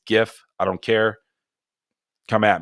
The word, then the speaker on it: GIF: I pronounce it with a hard G. All you soft G GIF people out there, I don't know what a GIF is outside of peanut butter. It's GIF.